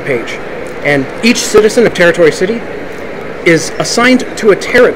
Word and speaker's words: Tarot Tori City: and that's right it's the city is pronounced territory city as in Tarot like the card but it's written as